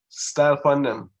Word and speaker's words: style pandem: So it's like style on them, but it's pronounced in Patois, Jamaica's dialect.